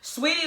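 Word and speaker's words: Saweetie: Like the messy bun with the just Sweetie is I know I'm saying her name Sweetie because that's how it's spelled.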